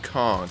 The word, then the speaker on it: conch: yeah, she said conch, and then Oh, God. Isn't it actually pronounced conch? and Some so, people It's say a that launch. shit, and it drives me crazy.